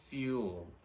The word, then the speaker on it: fuel: have is the word fuel fuel fuel okay now this simply means a substance that is consumed to provide energy through burning so the americans call it gas the british call it fuel more fuel than gas okay so that's it and not foil so please don't say fuel all right so